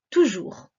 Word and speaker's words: toujours: écris le mot toujours le son j s'écrit avec un j et on n'oublie pas la lettre s à la fin qui est muette c'est la fleur qui